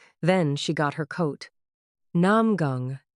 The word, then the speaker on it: Namgung: The surname alone had told her something before the gate even opened. Because it is an old name and a rare one, two syllables where almost everyone else has one.